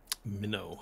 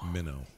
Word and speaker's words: Minnow: Minnow. Minnow. Okay. Like fish. Like a baby fish. Like a fish.